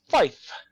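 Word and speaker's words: five: You say tree, and if you are going to say 5, you say fife.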